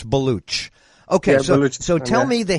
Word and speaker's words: Baloch: It looks like Balak, but it's Baloch.